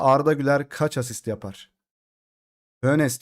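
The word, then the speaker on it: Hoeneß: Hönes diye okunuyor abi. Ben ne dedim? Hönes mi? Hönep mi dedim?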